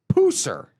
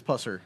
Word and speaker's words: Pusser: The mo the story the movies are based off the death of Pauline Puser. Is that how you pronounce it? Or is it Pusser? I believe it's Pusser.